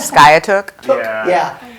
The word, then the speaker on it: Skiatook: Skiatook.